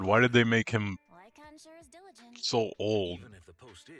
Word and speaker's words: Lycaon: Oh, it's Lycon. Okay. I've been pronouncing it halfway wrong then.